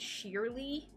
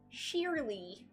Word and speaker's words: Shirley: That was like, there was this girl that I knew in college that or university, and her name was spelled Shirley, like Shirley Temple, but she pronounced it Sheerly. Sheerly.